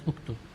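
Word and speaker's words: اكتب: So this we pronounce it as uktub.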